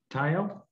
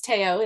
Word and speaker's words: Taiyo: as well the fatigue tayo sorry if i'm mispronouncing your name no that's okay it's taiyo and so yeah so